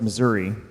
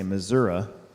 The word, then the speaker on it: Missouri: on where they're at I know it's Missouri but I like to say Missouri because that's how they say it especially in southern Missouri if you don't believe